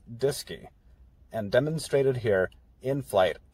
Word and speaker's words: DSKY: the display and keyboard acronymed as dsky pronounced disky and demonstrated here in flight on apollo 11.